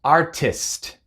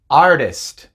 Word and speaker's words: artist: una r en español por ejemplo artist artest no decimos artest sino que decimos artist ferry ferrari no es